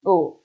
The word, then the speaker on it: 不: only two situations and most of them pronounce boo only one situation only one situation it changed the tone into second tone what's this this one right when they follow with the character whose tongue is fourth time you need to